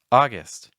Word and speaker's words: August: not July it's July August August the second syllable is not gust so if you're saying August not quite this hour We're Going For I recommend a short I sound like IST August September the September my